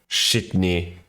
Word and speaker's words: Sydney: area the useless area shitny that's how you pronounce it if you haven't watched